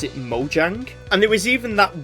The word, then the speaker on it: Mojang: So, what I'm aware is that Scandinavian languages pronounce a J as a Y sound. So, I believe in Swedish, now I don't actually speak the language, it would actually be pronounced Mojang.